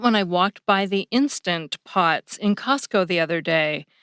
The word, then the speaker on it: Instant Pot: the other day because I always thought they were called “Insta Pots.” A lot of people seem to drop that “nt” sound at the end of “instant,” just like they do at the end of “couldn’t.”